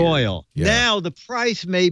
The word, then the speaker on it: Royole: Royole. Royal is spelled weird. Royal.